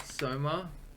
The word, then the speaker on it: Soma: That's how you say it, right? Soma. Yeah. That reminds me of the game Soma.